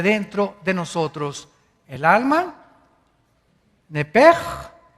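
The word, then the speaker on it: נפש: Esa palabra alma es la palabra hebrea nepesh, así como suena N-E-P-E-S-H, nepesh. La palabra, la letra o las letras S-H en el hebreo se pronuncian en hebreo como J. Entonces se pronuncia nepej.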